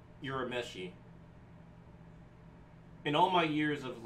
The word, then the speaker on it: Urameshi: But yeah, Urameshi is how it's actually pronounced. Not Urameshi, Urameshi. Like, in Japan, any name that starts with a U makes a U sound.